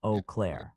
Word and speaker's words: Eau Claire: The correct pronunciation is Eau Claire.